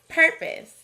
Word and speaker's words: purpose: In this word, we hear the sneaky schwa sound in the first syllable, ma instead of ma. We also see an R-controlled vowel, but it doesn't make the sounds we'd expect.